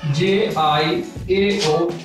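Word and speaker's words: 叫: We have the Chinese word jiao, J-I-A-O, jiao.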